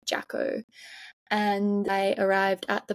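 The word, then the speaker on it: Jacó: And I was going on a bus to Jaco, which is, it's spelled like Jaco, like Jacko.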